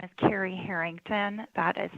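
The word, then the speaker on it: Cari Herington: good morning for the record my name is carrie harrington that is spelled c-a-r-i h-e-r-i-n-g t-o-n i'm the director with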